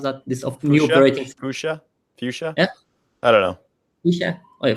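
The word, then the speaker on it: Fuchsia: that this of commemorating boosha boosha yeah hello yeah hey Fisher it's called foucha so there is a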